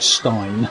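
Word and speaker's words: Steine: And the area there also, the roadway around there was called the Old Stein, or some people pronounce it the Old Stein.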